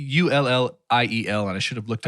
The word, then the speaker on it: Gaspard Ulliel: And I really want to be able to pronounce his name correctly. He's French. It is Gaspard Ulliel. It's Ulliel, and I should have looked up on how to pronounce that.